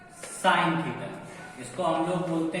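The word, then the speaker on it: sine: SIN, बहुत लोग सिल पढ़ लेते हैं इसको, बट SIN साइन होता है।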